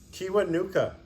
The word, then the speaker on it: Kiwanuka: ones I didn't know don't laugh can you pronounce it Kiwanuka yeah there you go yeah this is Michael